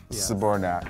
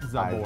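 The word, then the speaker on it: Zbornak: Saborac cuz that's pretty much all I ever hear. Two syllables, not Zabour.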